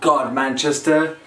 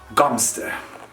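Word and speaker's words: Godmanchester: that'd be actually fun but it's not god manchester it's gumster gumpster why don't actually ask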